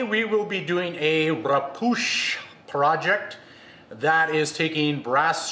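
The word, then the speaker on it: repoussé: the channel today we will be doing a rapoosh project that is taking brass sheet metal in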